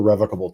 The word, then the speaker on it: revocable: They will only loan to individuals or revocable trusts. Revocable or revocable? You can pronounce it either way. It's sort of like tomato, Jeb.